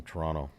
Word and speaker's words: Toronto: there this summer that's the way you say the city's name if you're real Canadian okay Toronto none of the Toronto stuff it's Toronto yeah the the second T is swallow exactly it is silent Toronto Toronto yeah Toronto